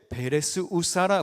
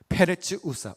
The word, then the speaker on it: 페레츠 우사: 본문 8절에 여호와께서 우사를 치심으로 다윗이 분하여 그곳을 베레스 우사라 부르니 그 이름이 오늘까지 이르렀다 했습니다. 베레스 우사라는 장소를 이름지었습니다. 원문에 더 가까운 발음은 페레츠 우사인데요.